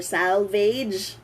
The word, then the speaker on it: salvage: Salvage or salvage. What does that mean? How do we use that as Filipinos? What does salvage? Salvage. Wait, that's the correct pronunciation, salvage.